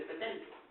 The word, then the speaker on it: Pétain: fue el mariscal Pétain, es Pétain, se escribe Pétain, pero dice Pétain, ¿sí?